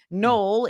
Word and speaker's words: Noel: Null is known as a Christmas city because it's spelled Noel, Nel.